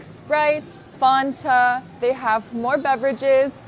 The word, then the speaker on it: Fanta: American would ever say Fanta it's pronounced Fanta Fanta or F sometimes you don't hear the T because you have n between vowels so you'll hear Fanta